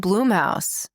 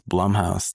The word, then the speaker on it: Blumhouse: So, I said Bloomhouse. I think it's Blumhouse. Jason Blum.